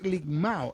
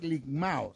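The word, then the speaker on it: λικμάω: El término, el desmenuzar del griego, es ligmao. Ese término que aparece en el pasaje es ligmao. Se escribe L-I-K-M-A-O, ligmao. Es el resultado que se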